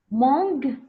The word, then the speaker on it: mangue: chips ketchup beefsteak mangue parce que on a le U muet on ne prononce pas mangue on dit mangue cake c'est vrai bravo